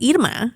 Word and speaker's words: Irma: And her name is Irma, it's not Irma, And so she came and we did that in person, actually.